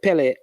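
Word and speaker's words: Pelé: gamma goalkeeper whose name was Billy um he mispronounced the name instead of saying Billy he said Pele answer his friends started calling him um Pele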